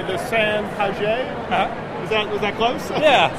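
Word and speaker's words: Sans Pagaie: So we just had the, and you probably pronounce it better than I, the San Paget? Uh-huh. Is that close? Yeah, San Paget.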